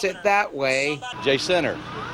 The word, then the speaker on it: Jacinto: J-Center. J-Center, that's Yeah. right. If you say it Jacinto, you're obviously from out of town.